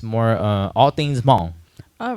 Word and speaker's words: Hmong: But anyways, there's a silent H in Hmong, so it's Hmong.